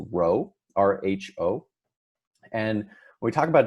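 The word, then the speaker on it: ρ: this is the symbol for density this is pronounced Rho Rho and we talk about density right we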